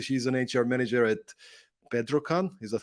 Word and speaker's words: Bedrocan: And currently, she's an HR manager at Bedrocan. Is that how you pronounce it?